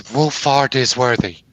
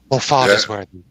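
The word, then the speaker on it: Woolfardisworthy: The actual village name is Wolfardisworthy. All one word. Wolfardisworthy. But the locals got so fed up with all the holiday makers not being able to pronounce it, it's just called Wolseley.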